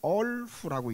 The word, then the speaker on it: 얼후: 호궁이 운다, 호궁이 운다 그러는데 이걸 한문으로는 이호라고 써가지고 얼후라고 읽습니다.